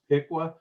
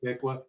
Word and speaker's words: Piqua: of cincinnati ohio and marche it's uh it's pronounced piqua but only the people that live there public piqua everybody else pronounces it the same way you